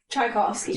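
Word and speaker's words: Tchaikovsky: way to say chovsky chovsky do not say the tea Rai chai like coffee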